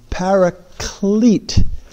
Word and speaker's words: paraclete: It's a paraclete, not a parakeet.